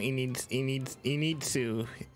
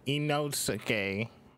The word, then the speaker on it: Inosuke: I call him Initsu. It's Inosuke. So hard to pronounce these names.